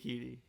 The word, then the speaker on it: Keady: It's just like a girl's name, Keady, but instead of a T sound, it's a D sound. So K-D. So Keady Keedy. Keady.